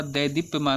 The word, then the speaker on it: देदीप्यमान: यहाँ पे सही जो आपका प्रोनाउंसिएशन होता है वह दैदीप्यमान होता है, एक की मात्रा होती है देदीप्यमान, है ना, इसको ध्यान रखिएगा।